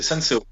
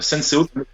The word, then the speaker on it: Senseo: Moi, c'est Senseo. Senseo, ouais. Senseo, comme les cafetières, Mais tout simplement.